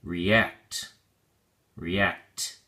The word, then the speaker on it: react: look at your flashcard react has two syllables and the emphasis or stresses on the second syllable act so we say react react make sure you pronounce